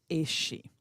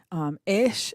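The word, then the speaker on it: Aos: It can be pronounced anywhere from like ice to ace, depending on the dialect and which type of Irish we're talking about here.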